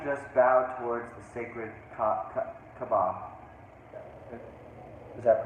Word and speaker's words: Kaaba: One afternoon when I was rising in prayer, having just bowed towards the sacred Kaaba, Is that pronounced right? Yeah, that's the Kaaba.